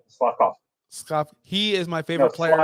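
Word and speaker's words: Slavkovský: And I'm going to make it very easy for you. Slavkovsky. Just say Slavkovsky. That's all you have to say. Slavkovsky.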